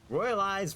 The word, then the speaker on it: Royal AI: Royal Eyes, royalties. Note, Royal Eye's name is spelled Royal AI, but it's still pronounced Royal Eye.